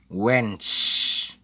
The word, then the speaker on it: Wednesday: hilangkan jadi Gwen swensen's jadi yang dihilangkan itu adalah ini huruf d kemudian huruf en8 Jadi dibacanya wenz wenz wenz wenz ada